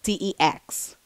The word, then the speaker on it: DeX: called the Samsung Dex station who the Samsung Dex like deex it rhymes with something else but it's the Samsung